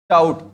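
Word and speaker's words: doubt: बात कर रहा हूं जहां पर भी आपको इंग्लिश में क्या दिखाई दे दे प के बाद में क्या दिखाई दे दे टी दिखाई दे दे वहां पर वो बी क्या होगा साइलेंट होगा वहां पर वो बी क्या होगा साइलेंट जैसे कि अब इसको क्या बोलोगे आप ट ठीक है यहां पर इसको क्या बोलोगे डाउट या ड बी भी बोलोगे बीच में क्यों बोलोगे इसको क्योंकि बी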